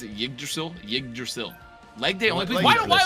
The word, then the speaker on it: Yggdrasil: How to pronounce it? Yggdrasil? Yggdrasil.